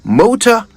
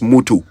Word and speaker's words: motor: The words are motor and motto. No such thing as motu. Not if you're saying it right. Yeah, all right. So it's motor and motto, not mutu.